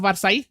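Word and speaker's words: Versailles: ये सब palace of वर्साई France में जगह है। जहां पे डबल एल होता है उसको प्रोनाउंस नहीं करते हैं ना। वारसाई आपने सुना होगा ट्रीटी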